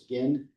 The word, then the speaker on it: Guin: I always mispronounce it. It's Guin.